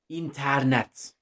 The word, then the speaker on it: internet: And the word I'm going to have for that one is going to be internet. Notice how I pronounced it. It's important. Internet.